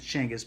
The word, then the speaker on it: Chinggis: thinking about Genghis Khan, or Chinggis Khan is another way to pronounce it, Genghis or Chinggis. I prefer Genghis, although it's not the proper. Everybody tells me it's Chinggis, but I'm so used to Genghis, I'm going to continue calling it Genghis.